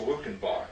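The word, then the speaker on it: Luckenbach: uh 200 miles from i guess it is pronounced lukenbach then uh i wasn't sure how that was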